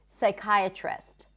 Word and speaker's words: psychiatrist: Whenever there is a PS at the beginning of a word, the P is not pronounced. So we don't say psychology, we say psychology. You just don't pronounce the P sound.